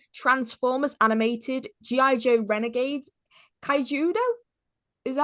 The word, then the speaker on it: Kaijudo: Joe Renegades, Kaijudo? Is that how you... Yes, Is that what pronouncing it correctly.